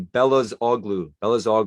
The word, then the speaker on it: Belözoğlu: the British commentators sort of talk, like Emre Belözoğlu, who played for Inter Milan for a while. It would be Belözoğlu. It's just, it takes 2 seconds to look up how to pronounce that name.